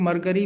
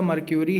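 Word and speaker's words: Mercury: मर्क्यूरी को ज़्यादातर लोग मरकरी भी प्रोनाउंस कर देते हैं, बट एक्चुअल प्रोनाउंसिएशन जो है इसका मर्क्यूरी है।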